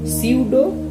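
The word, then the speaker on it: pseudo: এবং পঞ্চম আমরা যেটা চলে আসছি সেটা হচ্ছে সিউডো, অর্থাৎ পি সাইলেন্ট সিউডো এখানে।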